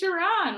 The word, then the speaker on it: Sharonne: It's Sharonne, like Yvonne, Sean, and John.